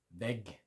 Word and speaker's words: vägg: Väg, road, vägg, wall. Same principle. The longer a sound in väg, because it's got one G, the shorter a sound in vägg, because it's got two G's on the end.